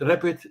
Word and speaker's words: Rappit: But Rappit, where you do it in a rapid way, as an app, as an IT, an application. Yep. So go to RAPPIT. That's how you spell it, and you'll find it the website as well.